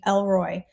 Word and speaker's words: El Roi: allowed himself to be named Elroy pronounced El Roy Roy I don't know where